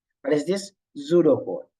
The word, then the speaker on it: pseudocode: textual method like a pseudocode. What is this? Pseudocode, right? Pseudocode. That's how we are pronouncing. P silent, pseudocode, right?